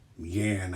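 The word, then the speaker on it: yuan: That's going to give the Soviets 12 rubles for next turn, and the ChiComs will have 4 yen, I guess is the way you would say it. It's spelled Y-U-A-N.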